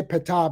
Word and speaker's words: Ptah: Because in the city of Menefer, where there was a temple raised to Ptah, by the way, we say Ptah because the R makes it easy to pronounce, but it's now you say that over